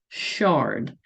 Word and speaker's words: Chard: she's a czt and this one is called Shard by Linda Farmer czt she names all of her patterns after wine so this is like Chardonnay so that's how you would pronounce that one so we are going